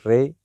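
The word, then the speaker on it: ر: The next one is Re, Ra. In Urdu, its name is Re. Its sound is Ra, Ra. And in English, pronounce it just like R.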